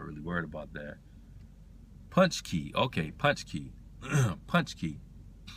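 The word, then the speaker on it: pączki: Punch key. Okay. Punch key. Punch key. I see it's pronounced punchki.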